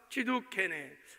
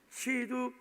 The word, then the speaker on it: 치두케누: 이것도 이제 오늘 이제 살펴볼 텐데, 자, 여호와 치두케네, 발음을 잘해야 돼요. 치두케누, 치두케누.